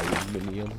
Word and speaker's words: aluminium: We're also kind of short on tungsten, and very, very short on aluminum, or aluminium, depending on how you like to pronounce it.